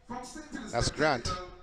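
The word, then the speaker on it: Ghrant: is in two but a grant is spelled g-h-r-a-n-t I've never seen Grant spelled like that before so not g-r-a-n-t like oh my name is felt but g-h-r-a-n-t that's Grant we are in lane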